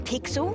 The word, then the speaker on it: Pixel: name's not weird guy I'm pixel it's easy to remember because it rhymes with pickle it does I'm Foster